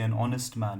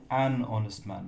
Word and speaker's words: honest: you want to say an honest man you don't say a honest man you say an honest man because here the H is silent so the first sound